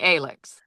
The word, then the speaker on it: Alix: it with you if you were going for Alex but just spelling it differently or if you actually wanted a different pronunciation. And you said I was thinking Alix. Yes. So we called it Alix. We went with Alix.